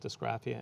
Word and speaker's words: dysgraphia: When you found out when you were young that you had a learning disability called, I'm going to pronounce it wrong, dysgraphia?